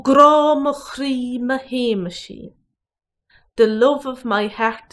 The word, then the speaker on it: Shéamaisín: Ó gráw mo chrí mo Hay-mush-een. The love of my heart is my little Jimmy. Ó gráw mo chrí mo Hay-mush-een.